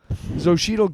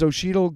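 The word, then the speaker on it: Xochitl: Zoshidel Gomez. I think it's because it's it's XO Hi TL. So, I think it's Zoshidel Gomez.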